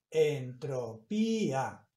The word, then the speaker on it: entropía: Esa palabra se lee entropía. ¿Por qué? Porque lleva tilde.